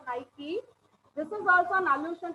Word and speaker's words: Nike: will come to know nike is also uh it is not knight it is called as nike this is also an